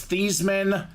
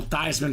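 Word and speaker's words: Theismann: said the story before his family name is thesman uh he was trying to go for the Heisman own name the pr staff said let's change the pronunciation to your name so we can go thyman for the Heisman he was a finalist he almost got it not quite but the name still stuck Joe thyman kind of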